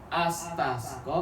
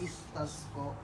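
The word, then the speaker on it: اسْتَسْقَى: Kata kaidah, kalau huruf ketiga berharakat fathah, maka alifnya dibaca kasrah.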